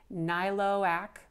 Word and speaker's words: Niloak: So the maker of this is, best as I can pronounce it, Niloak, N-I-L-O-A-K, I believe is what it says.